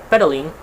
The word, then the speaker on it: pedaling: So in the word of pedaling, we can stress the first syllable of this word, pedaling.